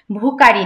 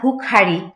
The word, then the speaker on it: ভুখারি: সহসা বন্ধ হলো মন্দির, ভুখারি ফিরিয়া চলে, ভুকারি না ভুখারি, খ আছে এখানে, ভুখারি ফিরিয়া চলে, তিমির